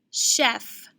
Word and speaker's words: chef: in the initial position chef charade chiffon what do you hear in the initial position i hear the shh which makes me think it's sh but it's actually not in this in these words